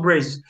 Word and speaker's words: Brazil: do Brasil, você falou Brazil? Porque nota que Brasil aqui ele foi escrito ó, com Z, né? Então quando vocês virem Brasil escrito com Z, a pronúncia é Brazil, certo?